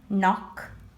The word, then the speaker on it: knock: Letters that you don't pronounce. I'm going to read it for you once. Knot, like when I tie a knot. Knee, knife, knock, night.